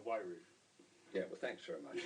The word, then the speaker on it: Wairau: I'm not sure how you pronounce that. Well, that's Wairau.